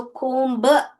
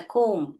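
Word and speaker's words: comb: सो कोम ब नहीं बोले कोम कोम ऐसे बोलने का यह बी जो है साइलेंट है कोम ऑफ बनानास ओके जब बनाना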